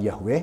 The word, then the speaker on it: Yahweh: dengan menggunakan nama yhwh itu ya pelafalannya seperti apa ada banyak diskusi tentang itu tapi kami menggunakan pelafalan Yahweh misalnya bahwa dialah Allah